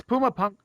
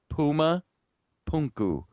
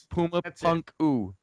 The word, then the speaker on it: Puma Punku: You know, Puma Punku. It's like Puma Punku. Puma Punku. All right. So anyway, the stones are fitted together a lot like what you might see at Puma Punku.